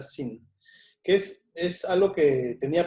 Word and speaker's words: zine: Y en ese tiempo se me ocurrió hacer un sin, en realidad, se pronuncia sin, que es algo que tenía pendiente hace varios años.